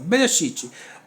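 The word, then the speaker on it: בראשית: Então, Berê, é aqui que fecha a sílaba. Shit, 2 sílabas. Bereshit.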